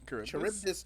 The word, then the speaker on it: Charybdis: How do you pronounce it, Ito? Charybdis. Charybdis.